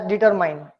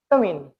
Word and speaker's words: determine: Most of us pronounce it as determine, but it is not determine. It is determine. Ra is silent because it is coming in the middle.